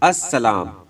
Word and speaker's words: السلام: तो यहाँ पर दिया गया है अस्सलाम। आपको बताया गया था कि लाम यहाँ पर साइलेंट हो जाता है, यानी लाम को पढ़ा नहीं जाएगा।